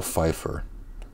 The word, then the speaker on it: Pfeiffer: Michelle Pfeiffer. Of course her name has a P in the beginning.